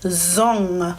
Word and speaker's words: zong: So this letter, when you see NG together, this example word is zong. So do you hear at the end in here, ng, right? That it's not an N, not N, and not G.